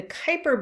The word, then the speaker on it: Kuiper: meteoroids dwarf planets the kuiper belt and the oort cloud so here's a cartoon of our solar system remember that the kuiper belt which rhymes with viper is a region of